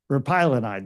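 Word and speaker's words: repaglinide: well to this drug that I can never pronounce right but Ernest will tell you repinolide but repylonide there you go all right so I do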